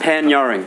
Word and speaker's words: Panyarring: How do you say Pan-Yuring? Pan-Yuring.